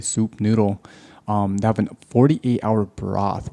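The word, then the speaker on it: Sup Noodle: It's spelled S-U-P, like sup, but it's really soup noodle.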